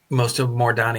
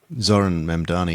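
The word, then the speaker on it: Zohran Mamdani: She actually today said that most of Mordani, how do you say his name? Zoran Mamdani, yeah. Zoran Mamdani.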